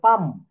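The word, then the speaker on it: palm: এটা সঠিক উচ্চারণে বলবো পাম এটা আমরা কি বলবো পাম এটা প্লাম বলা যাবে না কেন বলা যাবে না এল এম পরপর থাকলে এবং পরে ভাওয়েল না থাকলে এল অনুচ্চারিত থাকে পরে কি থাকবে না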